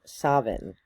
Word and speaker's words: Samhuinn: pronouncing it wrong, but that is the Scottish Gaelic pronunciation.